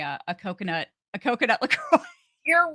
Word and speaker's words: LaCroix: mean I think she pronounced It the French Way La Croix oh look look how